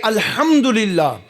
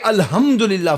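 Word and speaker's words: الحمد لله: ہوں، الحمدللہ رب العالمین۔ دیکھو تلفظ میں بڑا فرق ہے، ایک ہے الحمدللہ اور ایک ہے الحمدللہ، فرق ہے بھائی، بولو یار۔ ایک ہے لاہوری ہا اور ایک ہے حلوے کی ہا۔ حلوہ کھایا ہے بھائی کبھی؟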